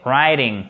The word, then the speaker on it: writing: Le W, il ne se prononce pas, donc on va prononcer writing.